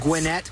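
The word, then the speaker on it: Gwinnett: that way but it it is pronounced just like it's spelled it's not gwet it's not guet it's gwet guet Gwinette County GW n t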